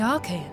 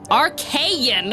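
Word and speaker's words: Archeion: Isn't that the entrance to the Archon? Archaean! Oh, okay. So my two pronunciations that I offered were both off base.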